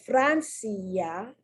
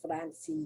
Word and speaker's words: Francia: vowel or weak vowel in the word francia nobody goes francis yeah but it's yeah the i is pronounced more like a y versus in the word